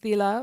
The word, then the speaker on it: sila: Pronounced thila by Plong people in Hpa-an district as in the Burmese language.